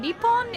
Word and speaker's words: Nippon: you haven't noticed and Nippon is a different pronunciation of me home which is Japan like this takes place